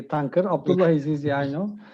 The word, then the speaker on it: Tuncer: You pronounced the name almost correctly, Tuncer.